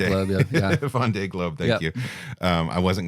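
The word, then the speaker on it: Vendée Globe: to participate in the first how do you pronounce it vond V Club yeah V Globe thank you um I wasn't going to say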